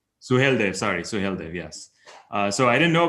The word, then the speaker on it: Suheldev: Suheldev, yes.